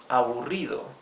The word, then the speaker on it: aburrido: You can also say less boring, menos aburrido, menos aburrido. These are 4 syllables. Aburrido. Remember, the double R is the rough sound of the R.